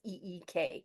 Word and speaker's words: Ik: tradition that you're following it's ik is how you spell it and how you can pronounce it as e k so just to give